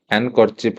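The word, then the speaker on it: handkerchief: हैंडकरचीफ रे एटा actually D हे जाए silent तो एटा पढ़ा जाए कोन हैंडकरचीफ डी पढ़ा जाए हैंड पढ़ा जाए हैंडकरचीफ बोली पढ़ा जाए।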